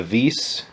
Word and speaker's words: WiS: named the uh the vis since the w is pronounced as a v um in in polish